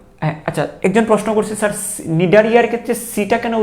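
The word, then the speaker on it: Cnidaria: কারণ ইংলিশ অনেক ওয়ার্ড আছে প্রথম অক্ষরটা উচ্চারণ করা হয় না, যেমন টেরিস পি উচ্চারণ করা হয় না, ঠিক আছে। তারপরে নিডারিয়া তো আছে, এরকম আরও অন্যান্য শব্দ আছে যেখানে প্রথম অক্ষরটা উচ্চারিত হয় না।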